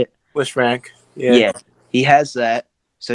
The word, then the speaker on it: Lisfranc: Lisfranc, yeah.